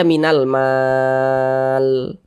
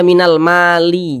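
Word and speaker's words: مِنَ الْمَالِ: Nah, ini huruf lam ini kita baca minal mal. Jangan dibaca minal mali, jangan, tapi dibaca mal.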